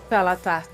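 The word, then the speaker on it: Xal'atath: Como pronuncia, amigo, o nome dessa arma? Xalatá.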